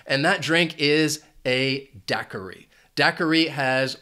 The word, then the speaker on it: daiquiri: Daiquiri has 3 syllables, and the stress is on that first syllable. Daiquiri. This word can be confusing because that Q-U-I can throw people off. It takes on that K sound. So you have daiquiri. That second syllable also has the schwa.